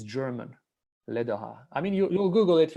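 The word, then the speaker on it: Läderach: It's pronounced Lederer, something like that.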